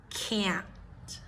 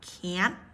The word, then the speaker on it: can't: or a and cat can't and that t is a stop T but we hardly ever pronounce the T you can if it